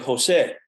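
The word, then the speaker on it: José: And I said, well, in Spanish, the J's are pronounced H, like Jose.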